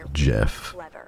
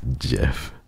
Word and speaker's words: GIF: are you there he himself said that it's pronounced Jeff yeah the graphic interface format he said himself